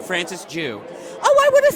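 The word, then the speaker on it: Francis Jue: Francis Jew.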